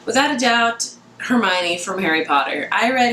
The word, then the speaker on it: Hermione: I wanted to and I used to call Hermione hermone and that's just what